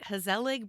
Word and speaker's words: Gezellig: let me hope I can say it right, GeZellig Brewery?